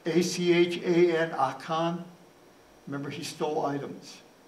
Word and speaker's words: Achan: A-C-H-A-N, Achan.